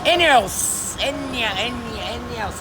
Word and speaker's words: ENEOS: エニオス。